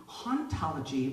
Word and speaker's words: hauntology: accent, but hauntology, actually, if you speak French, it's pronounced the same way as ontology, right? So ontology. And so Derrida had this really, really wonderful thought that actually hauntology would be the study